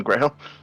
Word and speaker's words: Åvna: say your name again graeme sorry the a just it's not an a look at it it's got a little circle above it yes it's pronounced as ooh i will i will